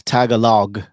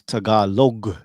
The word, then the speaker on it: Tagalog: you spell it wrong, it's probably spelled right. Yeah, they people like, hey, yeah, it's Tagalog. No, it's Tagalog.